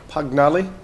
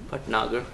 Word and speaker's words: Bhatnagar: And then I've got Pagnali? Bhatnagar. Bhatnagar.